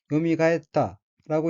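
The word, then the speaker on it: 蘇った: 다음 어휘는 한자가 되살아날 소자이고 일본어로는 요미가했다라고 읽으며 요미가했다는 되살아나다, 소생하다는 뜻의 자동사 요미가에루의 과거형으로 요미가했다는 되살아났다는 의미입니다.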